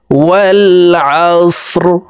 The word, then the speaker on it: والعصر: ওয়াও লাম জবর ওয়াল, আইন সদ জবর আস, ওয়াল আস রজের রি। রকে ওয়াকফের ক্ষেত্রে সাকিন করে ফেলবো, অর্থাৎ রর উপরে জজম ব্যবহার করব।